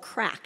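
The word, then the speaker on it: craic: You know, there's a word in Ireland they have called crack. It's not the drug. It's spelled C-R-A-I-C.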